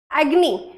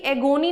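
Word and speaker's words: agony: चलो जी आगे देख लो भाई, एग्नी। एग्नी मतलब क्या होता है, ध्यान से देखो, एग्नी, है ना, इसका पहले तो प्रोनाउंसिएशन भी एगोनी नहीं होता, इसको हम एग्नी कहते हैं, ठीक है।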